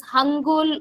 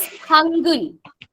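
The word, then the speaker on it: 한글: But don't pronounce as Korean language learners. You don't pronounce it as Hangul or Hangyol. Nothing like this. It is Hangul.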